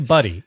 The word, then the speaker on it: Budde: run by Bishop Maryanne buddy I have been assured by Sam the pronunciation for this is actually buddy but if I'm doing